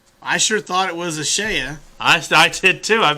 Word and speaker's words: Ashaya: do you pronounce them rhymes with playa spanish for beats oh so it must be ashaya i sure thought it was ashaya i i did too